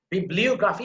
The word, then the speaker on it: bibliography: Then bibliography, you see, O sound, you have to put emphasis there.